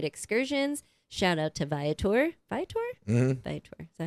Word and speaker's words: Viator: Viator?